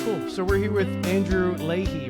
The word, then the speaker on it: Andrew Leahy: So, we're here with Andrew Ley, right? Am I pronouncing that right?